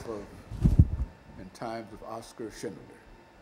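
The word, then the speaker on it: Schindler: yeah the life of and Times of Oscar Shindler like s c h i n d l e r like Shindler Shindler well not not D just Shindler Shindler yeah yeah you say it right I know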